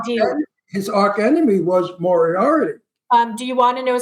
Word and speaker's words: Moriarty: Isn't it pronounced Moriarty? It's Moriarty.